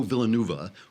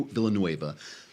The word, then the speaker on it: Villanueva: of them comes out Alejandro Villanova who is one of is that how you pronounce it fluent Villeneuve of Villanueva sorry Alejandro Villanueva comes out and he's